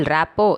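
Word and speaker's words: rapport: பகுதி நாலு இணக்கம் ராப்போ என்ன இது ஆங்கிலத்தில் ராப்போட் என்று இருக்கும் சொல்லை தமிழில் ராப்போ என்று எழுதி இருக்கிறதே என்று பார்க்கிறீர்களா? ராப்போட் என்ற ஆங்கில வார்த்தையை ராப்போ என்றுதான் உச்சரிக்க வேண்டுமா? அதில் இர் சைலண்டாம். சரி இந்த ராப்போவுக்கு தமிழில் என்ன பெயர் வைக்கலாம்?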